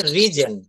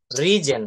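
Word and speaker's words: risen: না, এটা উচ্চারণটা হবে হচ্ছে রিজেন, রিজেন, হ্যাঁ, রাইজ রোজ রিজেন।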